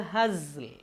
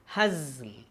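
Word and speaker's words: هزل: വമാ ഹുവ ബിൽ ഹസ്ൽ. വമാ ഹുവ ബിൽ ഹസ്ൽ. അക്ഷരങ്ങൾ ഹസ് പിന്നെ ഇൽ, ഹസ്ൽ അങ്ങനെ വേണം പറയാൻ.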